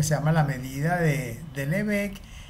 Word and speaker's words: Lebesgue: Lebesgue, Lebesgue, que es como se pronuncia, no Lebesgue, como iba a decir, Lebesgue, fue capaz de construir